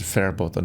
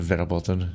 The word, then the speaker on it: verboten: It's verboten, not verboten, because it's pronounced like an F.